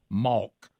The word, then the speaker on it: mock: Y'all say it M-A-W-K."